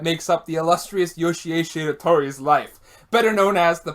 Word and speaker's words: Shiratori: Shiratori. Like sheer, but like I'm flipping the R.